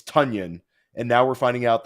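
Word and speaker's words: Tonyan: of his career that it's not Robert tanan it's tanion and now we're finding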